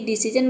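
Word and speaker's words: decision: नजर या फिर दृष्टि डिसीजन मतलब होता है निर्णय तो देखिए यहां पे विजन और डिसीजन ये दो ऐसा वर्ड है जहां पे हम जन प्रोनाउंस कर रहे हैं एस आई ओ एन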